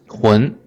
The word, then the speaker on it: 臀: It is pronounced as 臀.